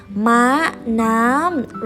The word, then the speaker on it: ม้าน้ำ: Thai is pronounced as ม้าน้ำ ม้าน้ำ ม้า is horse. น้ำ is sea. ม้าน้ำ Repeat after me.